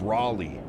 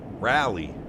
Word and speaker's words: Raleigh: It's pronounced Raleigh. Rally. Rally. Raleigh.